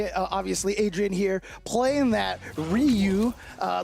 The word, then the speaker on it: Ryu: And you know, obviously Adrian here playing that Ryu uh the Rayu from the Bayou here coming up. Say that. That's always what my friend used to joke about people mispronouncing name.